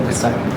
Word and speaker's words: Pesaj: ¿Alguien recuerda el pesaj? Es el Pesaj. Aquí hay dos maneras de escribirlo. Anótale. Pesaj con el acento en la P que traducido es la Pascua.